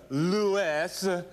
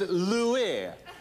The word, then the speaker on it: Louis: It's not Lewis, it's Louis. L-O-U-E-Y. You know, you say Huey, Louie, and Dewey. You don't say Hughes, Lewis, and Dewey.